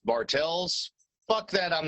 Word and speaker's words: Bartles: Steve Bartles, although his name is pronounced Bartels.